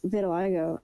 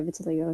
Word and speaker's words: vitiligo: It kind It's kind of like I don't know how to pronounce this word, but by my life. Viligo. It is kind of like reminds me of that. Yeah. Vitiligo.